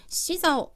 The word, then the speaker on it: 洗澡: 자, 이 洗澡라는 동사에 주의를 하셔야 하는데 洗澡 발음은 洗澡라고 합니다.